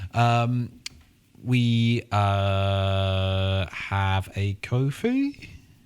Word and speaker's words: Ko-fi: Um we uh have a Kofhei. Yes, we do. Uh I'll leave that to you to describe because I know nothing about it. That's uh it's spelled ko fi. So it's coffee.comweeklyongodcast.